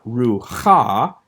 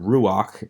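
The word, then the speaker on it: רוּחַ: be pronounced first so this is not ru ha this is again it only happens in a few cases and you'll memorize these for instance in the word ruach meaning spirit so that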